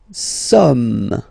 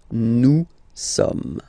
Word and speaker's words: sommes: Nous sommes, okay? Nous sommes, okay? So you don't pronounce the final S here. It doesn't exist. Sommes. Nous sommes, okay?